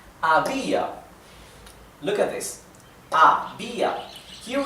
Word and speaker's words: había: Había, the accent is on the letter I, on the vowel I.